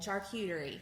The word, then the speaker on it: charcuterie: Charcuterie.